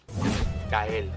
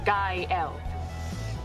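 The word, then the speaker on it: Gael: Gail. I'm sorry. Gail. Kyle. Kyle. Kyle. Girl. It's pronounced guy L.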